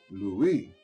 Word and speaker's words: Louis: here louis he called he pronounced it the way the french way louis the way people in new orleans always did you go on home